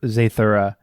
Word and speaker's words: Zathura: day we should go back and do uh zathura is that what it is i mean i pronounced this zaythora no that's exactly wow yeah